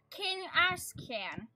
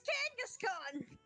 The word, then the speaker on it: Kangaskhan: It's a King Ash can. It's a giant kangaroo. A what? The giant kangaroo or the baby kangaroo? Kangaskhan. That's Kangaskhan!